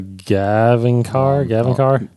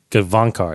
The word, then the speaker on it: Gavankar: It's Jania Gavinkar? Is that Janina? Hold on, I have to read it. It's pronounced Janina?